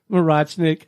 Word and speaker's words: Morochnik: with web step design coincidentally enough miss Murat snick how are you I'm good thank you stone and kudos for pronouncing my last name well tell us about